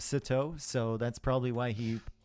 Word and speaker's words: Sitaux: And Plateau rhymes with Sitaux.